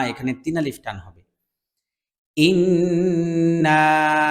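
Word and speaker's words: إِنَّا: রাহমানির রাহিম ইন্না না এখানে তিন আলিফ টান হবে ইন এখানে ওয়াজিব গুন্না হ্যাঁ এটা গুন্না করতে হবে আর এখানে না এখানে তিন আলিফ টান হবে ইন্না আ তাই না আ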